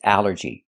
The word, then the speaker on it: allergy: The first word is allergy. The first thing that's important is the al. This word breaks the rule. The rule is a ll makes the sound all like ball and call.